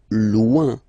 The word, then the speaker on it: loin: Loin. So remember when you get this combination O-I-N, it's ouin, ouin, ouin, okay?